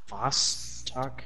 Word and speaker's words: Vostok: Vostok? How the heck do you... I don't know how to say that. You have to say it like a Russian.